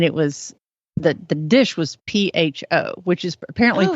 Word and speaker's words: pho: It's not pho, it's pho, and it's kind of like ramen.